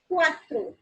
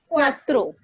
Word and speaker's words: cuatro: Okay, because as I told you, the pronunciation of CU is U, right? So CU को हम U pronounce करेंगे and A की अपनी sound होती है, that is A, and then throw again cuatro.